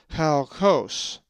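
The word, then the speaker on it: χαλκός: The accent is over the omicron, halkos.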